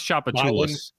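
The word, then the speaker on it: Tchoupitoulas: You know, and anyway, like if we can pronounce chapatul.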